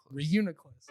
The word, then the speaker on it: Reuniclus: All right, his team is Scizor, Swampert, Metagross, Gengar, Lucario, and will you pronounce that again for me? Reuniclus.